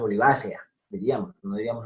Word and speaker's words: olivacea: Después les digo por qué el acento es el que casi todos utilizaríamos de modo natural, en este caso olivácea, diríamos, no diríamos olivacea.